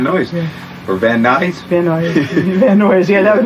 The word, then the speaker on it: Van Nuys: Van Nuys. Van Nuys, yeah, that would be the actual pronunciation.